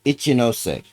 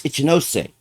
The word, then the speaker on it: Ichinose: I'm pretty sure it's Ichinose. I I bet you it's Ichinose. It's not Ichinos, it's Ichinose.